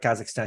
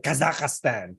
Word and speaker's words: Kazakhstan: the same error in mispronouncing uh Kazakhstan she did Kazakhstan they're like four syllables instead of three syllables only like Kazakhstan girl please okay do